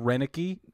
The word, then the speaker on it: Roenicke: their pronunciation guys yeah Ron Roenicke oh that's his name Rennick E that's him Rennick E okay so he was